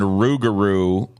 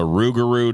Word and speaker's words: rougarou: the way it's weird i learned by the way that you that lugaroo and rougarou are both uh that you can call it whatever i i thought it was one or the other but apparently it's called the